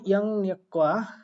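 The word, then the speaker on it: 양력: তো এটার উচ্চারণ হলো ইয়াং নিয়ক্কা।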